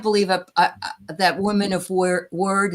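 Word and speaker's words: wyrd: Is that how you say it, Diana? What? Well, yeah, it's weird. But a little whales accent. Weird. They're weird. Yeah. Yeah. W Y R D I think it is.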